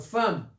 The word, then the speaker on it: femme: par exemple femme alors femme ça s'écrit avec E et se prononce avec a femme second ça s'écrit